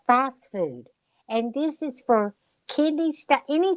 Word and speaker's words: Phosfood: about 5, 10, Phosphate? Is that 5. what you said? It's spelled fast food.